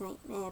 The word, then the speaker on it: Knightmare: Yeah, I know it's pronounced Nightmare, but gotta make sure that the subtitles don't mess around.